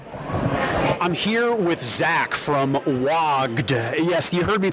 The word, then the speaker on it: WOGD: I'm here with Zach from WOGD. Yes, you heard me correctly. It sounds like WOG, like to be an orc and to call the WOG.